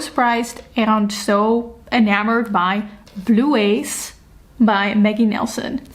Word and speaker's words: Bluets: And I ended up being so surprised and so enamored by Bluets by Maggie Nelson. Oh, I actually think you're supposed to pronounce it wrong. So it's Bluets. Bluets by Maggie Nelson.